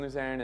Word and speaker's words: Luzern: Is it Luzern? Okay, so it's in Luzerne, and it's 2 days, totally free.